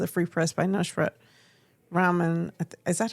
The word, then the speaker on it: Rahman: There was a report in Bridge Detroit Free Press and also the Free Press by Nusrat Rahman. Is that how you pronounce it? Rahman, yeah.